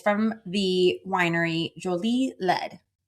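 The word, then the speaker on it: Jolie-Laide: It's from 2022 and it's from the winery Jolie Le. I double checked I'm saying it correctly. Jolie Le.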